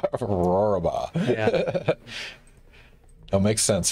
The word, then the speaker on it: Rohrabaugh: Yeah, so I always try to tell people it's the sound that a lion makes as it eats a sheep, or roar and a baa. Rohrabaugh.